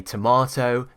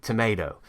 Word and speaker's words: tomato: I say tomato, they say tomato.